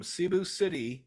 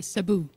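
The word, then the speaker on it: Cebu: correctly uh close uh we call it we say Sabu kind of like the Zabo um oh Sabu okay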